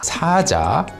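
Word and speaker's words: 사자: Number one being saja which is the lion version and then there's version number two where you pronounce the word with a longer vowel sa saja.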